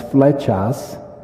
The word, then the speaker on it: Flechas: for george and then my last name is fletchas and the word fletcha